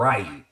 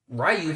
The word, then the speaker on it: Ryu: Y'all know Ken and it's pronounced Ryu, but we called him Ryu.